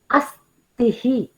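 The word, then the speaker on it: अस्थि: Astihi. So here Mahaprana Tha is there.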